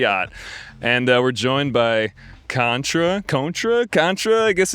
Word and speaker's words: CØNTRA: And we're joined by CØNTRA. I guess it's like, what, tomato? Yeah, whatever you want to say, usually CØNTRA though.